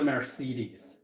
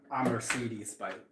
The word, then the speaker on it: Mercedes: Like most taxis are Mercedes, for example, or Mercedes, how it's properly pronounced.